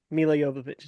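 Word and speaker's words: Milla Jovovich: Mila Yovich is how you say it.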